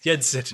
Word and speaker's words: Yensid: Oh, so she is how you say Disney backward? Yeznid. Yeah, whatever. Sid. Yensid. There it is. You're saying Yensid.